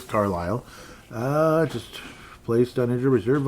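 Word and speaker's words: Carlile: Declan Carlisle, it's spelled differently than the other Carlisle you normally see, but it is Carlisle.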